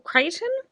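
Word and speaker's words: Crichton: did an update um i think it's michael creighton it's not the book that was coming in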